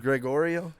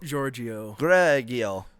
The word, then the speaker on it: Giorgio: Gregorio? No, it's not Gregorio. Gregorio? Giorgio. Giorgio.